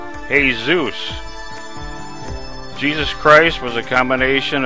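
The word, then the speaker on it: Jesús: In Spanish, his name is pronounced Hey Zeus.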